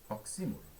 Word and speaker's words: oxímoro: Alguns pronunciam das maneiras mais curiosas possíveis, né? Oxímoro, oxímoro, oxímoro, mas o correto seria oxímoro.